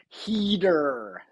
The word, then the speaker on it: Heder: I like the American pronunciation. Heder.